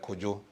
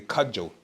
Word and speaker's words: Kojo: You have in Ghana, you have people's name like Kojo. And then there was in Europe, or Europeans, or people who can't pronounce the name, they say Kajo. It's a wrong tone.